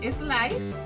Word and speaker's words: slice: Tenemos que tener cuidado en la pronunciación de esta palabra porque casi siempre tendemos a ponerle aquí una E inexistente. Entonces, ustedes tienen que acostumbrarse a que no se dice slice, porque la van a escuchar así de parte de personas que no hablan inglés. Slice no. Tenemos que empezar desde la S.